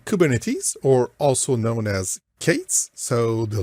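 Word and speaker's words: K8s: introduce kubernetes so kubernetes or also known as Kates so the letter K followed by the number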